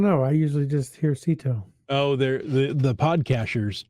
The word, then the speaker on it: CITO: that's okay let's talk about them let's a Sito is Cash in trash out that's CI T some people pronounce it CTO um what other pronunciations have you heard uh I don't know I usually just hear Sito oh there the the podcasters tried to go